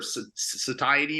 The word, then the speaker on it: satiety: Food volume for satiate or satiety.